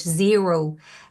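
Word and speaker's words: Xero: I would highly recommend it's called zero Cloud accounting software and it's x e r o is how it's spelled and they have different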